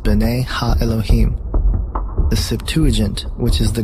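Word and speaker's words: בני האלהים: of God mentioned here in the Hebrew is pronounced Binet ha Elohim the Septuagint which is the Greek translation of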